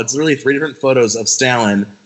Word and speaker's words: Stalin: well first of all you're saying the last name wrong so I'm confused I thought it was like someone was doing a play on the word what wait what's it's Joseph Stalin Stalin Stalin it's Stalin oh well it's n